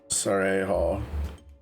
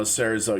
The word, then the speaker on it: cerezo: Cerejo. No, cerezo. You pronounce Z's in Spanish, I think. Like chorizo.